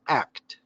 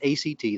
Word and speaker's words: ACT: and commitment therapy are it's also known as act you don't pronounce it a CT that's the American College testing just act so if you want to be inside the